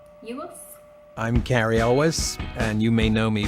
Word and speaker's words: Cary Elwes: Judd Morgan Freeman and I always get his name wrong Carrie Ewell's you look I'm Cary Elwes and you may know me from The Princess